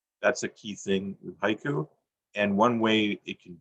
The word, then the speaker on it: haiku: for a second um how many syllables in the word haiku two two it's not a trick question um in japan however it's three what they say is actually hike they swallow the u at the end even